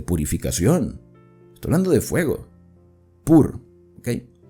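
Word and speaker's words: πῦρ: Acá la palabra fuego, que ustedes pueden ver la traducción en letras rojas, en griego se pronuncia pur. Aquí dice pur como de purificación, ¿sí?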